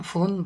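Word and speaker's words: 分: কাঞ্জি মানে হল মিনিট তবে সংখ্যার উপর ভিত্তি করে এর উচ্চারণ ফুন বা পুন হয় জাপানি সব সংখ্যাকে মিনিটকে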